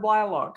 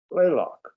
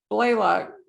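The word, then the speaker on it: Blalock: of the joanna blaylock was it blaylock or blailock how do we pronounce it blaylock blaylock series of medical thrillers his novels have been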